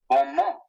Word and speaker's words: bon mot: Bon mot. You don't pronounce the final T.